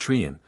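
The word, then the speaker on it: Treryn: of rocks known as Castle Trin pronounced trian once the haunt and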